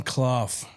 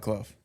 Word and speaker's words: Clough: Now, today, Kloff joins the show. Did I pronounce that right? Yeah. Just like tough. Tough like Cluff.